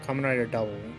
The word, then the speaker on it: Kamen Rider W: on the events of kamen rider w pronounced as double oh kamen rider double where this character is